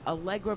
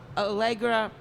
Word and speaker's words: Allegra: back Jamie works at Princeton oh my god allegro Princeton I will get it right I am